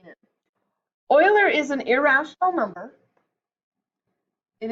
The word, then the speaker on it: Euler: Isn't that a goofy way to pronounce that word? Euler. Okay, I always wanted to call it Euler because I'm such a German background person, but it's Euler.